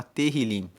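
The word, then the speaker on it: Tehilim: Tanto que o livro dos Salmos, no original, em hebraico, ele se chama Terilim. e terrilim, que se escreve t e h, terrilim significa louvores.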